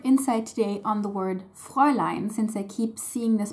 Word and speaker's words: Fräulein: First of all, before I get started on the usage, one note, it's Fräulein, not Fraulein. It does derive from Frau, but it is spelled with an ä, not with an a.